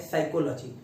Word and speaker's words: psychology: बट अब बात आती है कि सर ये याद कैसे रहे, क्योंकि पी तो साइलेंट है पहली बात तो, और अगर इसको याद रखना है गलत ना हो फिर पेपर में तो ये कई तरीके से लिखा रहेगा।